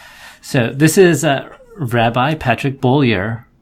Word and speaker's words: Beaulier: My last name, if you want to be French, is Beaulier, and if you want to be American, like me, it's Beaulier. Beaulier?